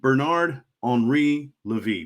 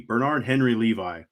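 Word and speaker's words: Bernard-Henri Lévy: There's a guy named Bernard Henri Levy, Bernard Henry Levi, in more white guy English pronunciation.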